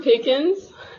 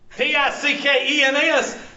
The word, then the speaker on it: Pickens: I'm from Pickens. Oh, my Lord. People that live in Pickens, they make that into a three-syllable word.